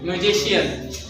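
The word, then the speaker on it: musician: लिखे हैं, म्यूजिशियन नहीं, म्यूजिशियन, ठीक। हमेशा जब भी आई ए रहे, सी के बाद आई ए रहेगा तो उसका जब भी प्रोनाउंसिएशन निकलेगा वो निकलेगा श का, ठीक है, तलाबी श।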